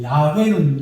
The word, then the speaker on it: 야훼: 그리고 아도나이는 주님이라는 뜻이고, 야훼는 여호와고, 여호와 우리 한글로 여호와고 본 발음으로 하면 조금 야훼 비슷하게 이렇게 소리가 난대요.